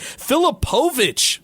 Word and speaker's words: Filipovich: Filipovich, that's how he pronounce his name, by the way.